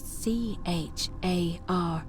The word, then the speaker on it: Charon: The name you heard wasn't Charon. It was C-H-A-R-O-N, as in Charon, the ferryman of the dead.